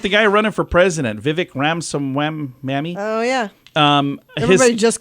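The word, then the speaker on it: Vivek Ramaswamy: of on Real Time with Bill Maher it's Vivic ramaswami is how you say it and there's a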